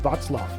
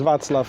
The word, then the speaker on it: Václav: talk with Vaclav.